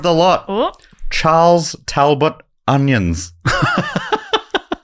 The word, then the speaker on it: Onions: And personally, I think that arse belonged to the best named editor of the lot, Oh, Charles Talbot Onions. spelt like the Spelled like onions.